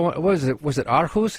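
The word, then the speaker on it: Aarhus: Was it Arus? How do you say that city? Yeah. Orus.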